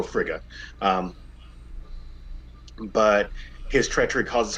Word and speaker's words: Frigga: In classic Norse mythology, it's sometimes pronounced Freya, um, and then in more English versions, it's pronounced Frigga. But I like to go Frigga.